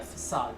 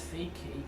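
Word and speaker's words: façade: Facade. That I always read it as fake cake for some reason. Even though it's pronounced facade.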